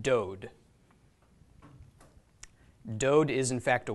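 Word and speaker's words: דוד: with cholam, dalit, okay, the dalit makes a D sound, the cholam makes a long O, the final dalit there, another D, so this is pronounced dode.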